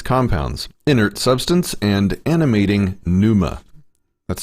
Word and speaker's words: pneuma: physical embodiment the logos exists as a as pneuma pneuma a substance imagined by the earliest stoics